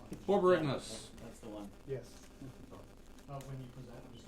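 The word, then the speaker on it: Borborygmos: No, it's Borborygmus. Borborygmus.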